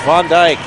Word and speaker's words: Van Dyke: the basketball team and make sure you get her name correct it's Van Dyke she's had her